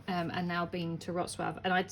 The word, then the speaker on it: Wrocław: favorite ever postcards um so it is spell pronounced rotv but obviously it looks like R claw um but it's Ros swab um but it's a really lovely Place Poland